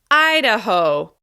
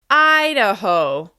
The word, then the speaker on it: Idaho: This state is stressed on the first syllable. Idaho, Idaho, Idaho.